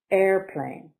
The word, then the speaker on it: airplane: Airplane, noun, 2 syllables. Stress is on the first. Airplane.